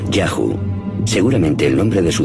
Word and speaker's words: YHWH: Los textos egipcios dicen que uno de los lugares donde los Shasu vivían se llamaba YHWH, probablemente pronunciado Yahu, seguramente el nombre de su dios protector.